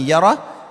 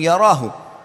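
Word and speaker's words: يره: Wa may ya'mal mithqala dzarratin syarran yarah. Kalau diberhentikan bacanya yarah, tapi kalau dibaca langsung yarahu.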